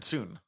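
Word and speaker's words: Sun: And then the last one is Aaron Soon. Who... They pronounce it Soon some places, Son other places, but I think it's Aaron's son.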